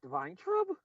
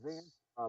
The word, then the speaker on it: Weintraub: It's pronounced Weintraub? Yeah. I always thought it was Van Traub. I thought the Y was silent.